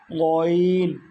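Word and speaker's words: غين: তারপরে কণ্ঠনালীর শেষ ভাগ হইতে উচ্চারিত হয়, আওয়াজকে পেঁচায় উচ্চারণ করতে হয় 2টা হরফ। সেটা হলো গইন, গইন, হ, গইন, হ। গরু জবাই করার পরে যে শব্দটা আসে এরকম একটা শব্দ আসে, সাউন্ড আসে, ঠিক ওই জায়গাটা থেকেই গইন এবং খ উচ্চারিত হয়।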